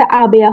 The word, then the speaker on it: aber: আ- আমাদের বলা হয়েছে আবেয়া হবে, আবেয়া। মানে আর এর উচ্চারণ অনেকে করে অনেকে করে না, হ্যাঁ।